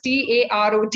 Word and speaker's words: tarot: it is spelled as Tarot, but as English is a very funny language, we all know. The T at the end is silent, and we pronounce it as tarot, right?